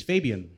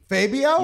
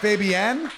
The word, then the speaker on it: Fabian: My name is Fabian. Fabio? Yeah. Everyone give it up for Fabio. Did I say it right? Close enough. Close enough. Fabienne? Yeah, that one. Oh, so it's Fabian, like the singer.